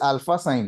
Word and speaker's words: Alphasine: Uh this is just alpha sign. Alpha as in you know being a you know a primary motivator or a primary driver and sine is the sine wave because in electronics uh most of